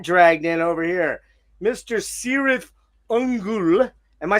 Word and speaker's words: Cirith Ungol: And I said, "No, because if we did, we would have pronounced our name correctly like it's supposed to be in the book. It's supposed to be Kirath Unul."